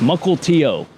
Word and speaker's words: Mukilteo: Multio. Multio. How do you say that? Multio. Muckle Tio.